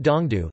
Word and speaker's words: 東都: Pronounced Dongdu, the paramount ruler of Manila.